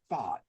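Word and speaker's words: Pfaadt: Fott.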